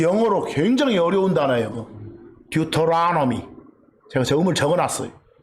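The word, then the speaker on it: Deuteronomy: 듀토라노미. 제가 저음을 적어놨어요. 듀를 두라고 발음해도 돼. 또 혀 굴리기 좋아하는 사람들은 터를 넣으라고 해도 돼.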